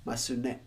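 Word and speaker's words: ますね: But when then follows a ne, because it cannot have this, you will always have to pronounce the su anyway. Masune.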